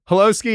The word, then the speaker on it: Holosky: Holosky it is. Yeah. I was like, Tony, I actually spelled out hollow and then sky, and then you still mispronounced it.